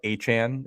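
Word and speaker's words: Achane: That you look at how Achan, as in Devon Achan, is spelled, and Right. you look at Travis, it looks like Etienne is spelled, and the fact that just those two things can end up being pronounced essentially the same way.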